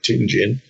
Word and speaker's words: Tianjin: Pronounced Tianjin.